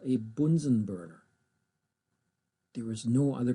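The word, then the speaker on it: Bunsen burner: If you want to get on the bad side of your American chemistry teacher, please pronounce it the correct German way. It is called a Bunsenburner.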